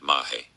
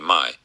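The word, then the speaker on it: Mahé: part, never heard of Mahe. Admittedly, we were pronouncing it incorrectly with an emphasis on the H, whereas those who had heard of it pronounced the name Mai with a silent H.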